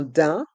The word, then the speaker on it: daim: jean, une veste en daim, une veste en cuir. Dans le mot daim, les lettres A, I, M se prononcent de façon différente, on prononce un, d'un. Le M est muet.